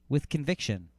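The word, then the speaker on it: WTHCNVCTN: t h c n v c t n pronounced with conviction why would mixelplix be able to say this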